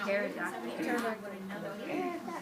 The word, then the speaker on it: pterodactyl: Like the Pterodactyl. Yeah, that's a hard word. The P is silent at the beginning of that word.